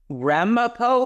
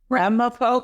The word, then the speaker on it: Ramapo: He is a PhD professor emeritus uh of finance at Ramapo College. Is that how you say it? You got it spot on, Malcolm. Ramapo College.